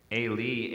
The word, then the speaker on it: Eloi: Well, in Aramaic, the way we pronounce Aramaic today, we would just say Eli, Eli. So that O vowel is kind of a mystery as to why it's in there.